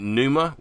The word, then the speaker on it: Pneuma: the transformative nature of Soma into, is it Pneuma? Is that how Pneuma. it's pronounced?